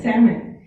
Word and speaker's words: salmon: my title was, salmon, which some Thai people call salmon because of the L, but it's actually not pronounced at all in English, and I think my theory is just because the English don't want to spell it like the French with the U, so they changed it to an L, but you don't pronounce the L.